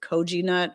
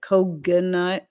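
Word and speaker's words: Koginut: Um some people pronounce it Koji nut or Kogi nut. Um I've heard it pronounced a billion different ways, but Koganut is the most common one. It sounds kind of like coconut.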